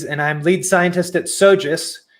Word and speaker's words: SoGES: i'm lead scientist at sojus which is the two syllable acronym for the very large